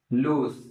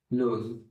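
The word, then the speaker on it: luz: Second word आपके सामने है लूज। क्या वर्ड है? लूज। ये मैंने पहले बता दिया होगा ना कि जेड को हम से प्रोनाउंस करते हैं।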